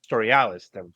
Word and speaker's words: Storialis: How is that pronounced? Storialis. Storialis.